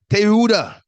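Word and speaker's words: תעודה: This is confirmed by the Hebrew origin of the word testimony, which is pronounced as Tehuda.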